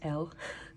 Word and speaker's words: L: the common corner hello my name is l it's pronounced just as the letter L and um I am